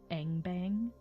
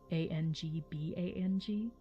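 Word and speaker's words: Angbang: and mairon is called engbang a-n-g-b-a-n-g um it should be pronounced ang bang but eng-bang is what most people call it uh because the dwelling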